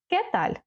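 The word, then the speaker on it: qué tal: при зустрічі Як справи кеталь перше ми бачимо ця літера не читається і наголос не забуваємо ставити знаки запитання попереду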